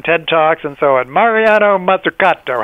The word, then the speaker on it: Mariana Mazzucato: Many of your readers probably already know about her because it's pronounced Mariana Mazzucato.